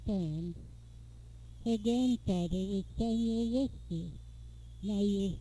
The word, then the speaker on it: Worcester: Her grandfather was Samuel Worcester. Now you'll spell that W-O-R-C-E-S-T-E-R. but it's pronounced, as so many English names are, in a different way. It's pronounced whiskey.